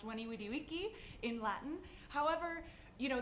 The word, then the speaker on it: veni vidi vici: as people have pointed out yes it is pronounced when e we D we key in Latin however you know this is sort